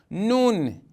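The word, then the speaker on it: نون: Nun é pronunciado através do nariz.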